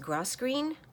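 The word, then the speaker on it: grosgrain: So I just discovered this kit from Tina at Shabby Dabby Doodah, and it's a, I believe it's pronounced grosgreen kit.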